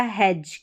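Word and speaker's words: hedge: जैसे यहां पर देखें यह है डी जी ई ज। यह हो गया हैज।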